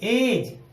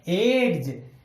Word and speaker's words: edge: जैसे कि हम इसे पढ़ेंगे ई डी जी ई, एज। हम इसको एड्स नहीं पढ़ सकते, एड्स नहीं पढ़ेंगे, ये बनेगा एज।